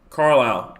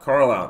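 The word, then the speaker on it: Carlisle: Desart to Carile. Carlile.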